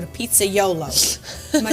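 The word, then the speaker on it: pizzaiolo: today that a pizza man is called a pizza YOLO am I saying it right yeah he did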